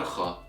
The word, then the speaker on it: خ: One last thing I would like to add here is that kha is a voiceless sound, which means you don't use your vocal cords to pronounce it.